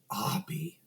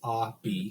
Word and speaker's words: Obi: His name is spelled Obi. Xavier says, "What the fuck's an Obi?" And he goes, "Abi." 2 syllables, Abi.